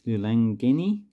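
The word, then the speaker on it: lilangeni: of the coin, so the singular is Lulangeni. Sorry, I might have said the name wrong before. The plural is Emalingeni. So there's a difference in the front of the actual pronunciation.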